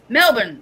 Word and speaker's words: Melbourne: Melbourne. That's what I thought. Melbourne. East Melbourne. I'll go to East Melbourne. In Florida. We have a city called Florida. Have you ever been to Melbourne, Florida?